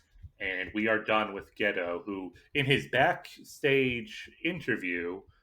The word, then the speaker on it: Gedo: I mean, I think it's just the fact that the O is elongated, which sometimes they write that as an OU, so it'd be like Gedo.